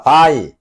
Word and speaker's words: 場合: 장합을 발음하면 어떻게 돼? 바이.